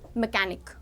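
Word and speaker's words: mechanic: जैसे machine and मैकेनिक। मैं यहां लिख रही हूं machine and मैकेनिक। Machine and मैकेनिक। तो मशीन में सी एच की साउंड को हम श प्रोनाउंस करते हैं और मैकेनिक में सी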